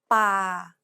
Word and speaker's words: ป่า: Remember, Thai contrasts between a hard B, an unaspirated P, and an aspirated P. This example uses an unaspirated P sound like the P in spin.